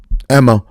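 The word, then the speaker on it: Aemma: Emma, fuck it. The A is silent. And that's what I'm sticking with.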